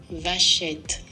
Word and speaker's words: Vachetta: It's a French-based word. So let's see how the French say it. Vachette. Vachette. That sounds like I should not say that on camera. Vachette.